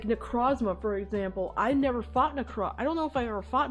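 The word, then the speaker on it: Necrozma: Necro necrosma. That's how you pronounce it.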